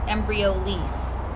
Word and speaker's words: Embryolisse: Embryolisse was the pronunciation.